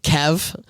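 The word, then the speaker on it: Kevf: So I pronounce it Kev. So the F is silent.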